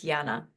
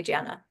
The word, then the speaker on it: Yana: Oh, your name gets pronounced as Yana. Okay, thank you for telling me that. Because here in America, that would be Jana.